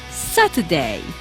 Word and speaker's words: Saturday: Or we don't say, for example, Saturday, we say Saturday.